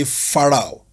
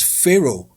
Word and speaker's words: Pharaoh: for example J person would easily say faroh but it's not far it's Pharaoh okay and it doesn't mean